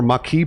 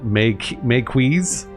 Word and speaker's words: Maquis: I prefer the TNG pronunciation, Maquis.